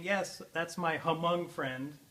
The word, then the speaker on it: Hmong: And so we keep saying, yes, that's my Hmong friend, but it's Hmong. It's not Hmong, it's Hmong, right?